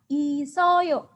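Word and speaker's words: 있어요: Kalau dibaca, 3 suku kata ini, bacanya adalah isoyo. Isoyo. Isoyo artinya apa? Isoyo artinya adalah ada.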